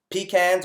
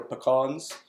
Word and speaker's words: pecans: Macadamia nuts, walnuts, almonds, pecans or pecans, however you want to pronounce it.